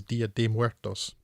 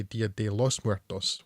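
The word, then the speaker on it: Día de Muertos: As far as I can tell, the correct way is Dia de Muertos. A lot of English speakers say Dia de los Muertos, which is incorrect, but most of the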